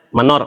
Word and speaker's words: Mnor: saya tuh di Lampung Kalau nama-nama singkatan mnor tu dibacanya menor menor menor gitu ya Dan saya Saya suka